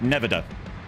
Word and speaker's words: Nevada: That's not how to pronounce Nevada. Oh, sorry, Nevada.